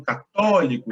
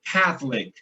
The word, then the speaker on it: Catholic: Porque em português o estresse da sílaba está no católico, né? Então, católico. Agora, em inglês é o contrário, é Catholic, Catholic.